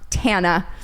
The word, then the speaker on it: Tana: If you know that tidbit of information, then you know that it is pronounced Tana.